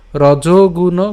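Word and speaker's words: রজোগুণ: রজগুণ খেয়াল করুন, এখানে কিন্তু আমি রজ উচ্চারণ করছি, রজনা। ঠিক আছে, কারণ এখানে আমার কি আছে, ওকার আছে।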